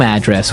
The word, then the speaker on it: address: So different from your home address where you live. Yeah. And there the stress is on the first syllable. Address, right?